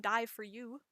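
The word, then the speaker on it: Dye for Ewe: Next in my lineup is my yarn from Dye for You. Die for you, cause it's spelled E-W-E. Yes, Dye is in color and U is in sheep.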